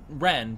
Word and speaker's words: Wren: I said wrench because her name is Ren but it's spelled like wrench they face swaps with